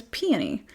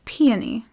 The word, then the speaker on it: Peony: dearly, whose name is Peony. The number of fucking times that I've listened to people talk about this stupid book and mispronounce her name, it's Peony, not peony. You pronounce that flower peony.